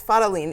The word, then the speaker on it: Fadolin: Yes, Fadolin. It's a brand new instrument, so it's okay not to know how to pronounce it.